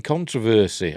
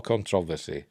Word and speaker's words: controversy: Hall is mired in controversy or controversy depending how you want to pronounce it according to the